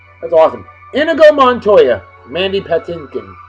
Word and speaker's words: Patinkin: a whoa man's name Mandy Patton Patton Patinkin p-a-t-i-n-k-i-n Patinkin I've never known how to pronounce his last name all I know is